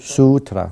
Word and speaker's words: Sutra: No, actually, I have to pronounce it Lankavatara. Lankavatara Sutta. Sutra.